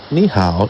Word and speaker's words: 你: The pronunciation of 你 is similar to that of the English word me, and how similar to how. But the tone is totally different.